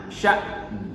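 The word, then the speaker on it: شأن: Jadi bacanya sya'n. Ada nunnya tetap dibaca. Bukan dibaca sya'n. Biasanya bukan sya'n. Ada nunnya ya, ditekankan.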